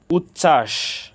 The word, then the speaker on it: উচ্ছ্বাস: করে জেনে নেই উচ্ছ্বাস এখানে চ ছ যুক্ত বর্ণ চ ছ যুক্ত বর্ণের সাথে ব ফলা যুক্ত হয়েছে ব ফলা যুক্ত ব্যঞ্জন বর্ণ এর সাথে যুক্ত হওয়ার কারণে এখানে ব ফলার কোন উচ্চারণ হয়নি উজ্জ্বল এখানে বর্গীয় জ